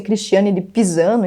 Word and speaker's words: Christine de Pizan: Um dos primeiros livros feministas, escrito pela Christine de Pizan, e depende da pronúncia, pode ser Cristiane de Pisano, enfim, publicado em 1400 e alguma coisa, se chamava A Cidade das Mulheres.